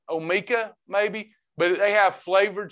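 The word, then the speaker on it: Omica: coffee as a creamer amica tammy davis on facebook it's not amica it's uh o-m-i-c-a amica i think's the way they pronounce it omeka maybe but they have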